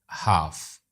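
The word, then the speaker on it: half: Umar cut the apple in हाफ हाफ silent क्या है? L light travels fast then sound.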